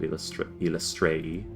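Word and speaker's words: Eilistraee: It's a symbol of Ilistari, because you got a holy symbol of Ilistrei, is how it's pronounced, before you left, so you know what that looks like.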